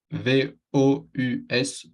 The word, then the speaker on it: vous: V-O-U-S, vous. Se pronuncia como una U en español.